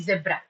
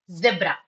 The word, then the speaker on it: zebra: uh Zeal likewise but if you are following British English then the pronunciation will be zebra zebra okay but that's okay even if you pronounce zebra that's fine okay because I studied in